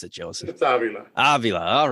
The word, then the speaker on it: Avila: is it Avila or Avila how do you pronounce it Joseph Avila all right okay excellent so these guys just